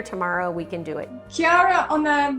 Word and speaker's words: Kara: I'll be there tomorrow we can do it Kara on the right is that right am I pronouncing your name right yes K perfect so